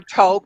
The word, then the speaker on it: toque: Red or talk. Toque. It can be pronounced either way.